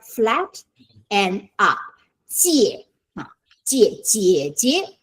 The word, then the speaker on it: 姐: how to say sister, 姐姐 okay, 姐 is J-I-E, you need to pronounce the J, okay.